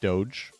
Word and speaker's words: DOGE: seems to me that the media and everybody else has really settled on Doge, pronouncing it Doge.